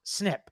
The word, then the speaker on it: SNP: called single nucleotide polymorphisms SNP pronounced snip the direct to Consumer